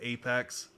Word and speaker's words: apx: own uh package manager called Apex it's just apx but they call it they pronounce it Apex and um hopefully